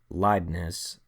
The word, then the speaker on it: Leibniz: Newton and this guy Gottfried Wilhelm Leibniz, I believe is how you say it, created calculus, which is a branch of mathematics that studies continuous change.